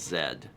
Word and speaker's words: Z: anyone in a country that's not the us that says z because it looks like every single place says zed thomas the lord said from power rangers makes way more sense yeah okay yeah everyone says zed oh childre says i'm norwegian and say z but that might be a thing hmm yeah if you learn yeah that's a good point if you learned american english very specifically then you would say z thomas is shook oh